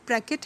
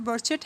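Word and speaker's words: Brecht: Bertolt ब्रैकेट है, Bertolt बर्चट है, मैंने क्योंकि इसको बहुत ज़्यादा बर्टोल्ट ब्रैकेट ही पढ़ा है तो मेरे मुंह से यही प्रोनाउंस होता है बार बार, जबकि असल वर्ड जो है वो बर्चट है, ठीक है।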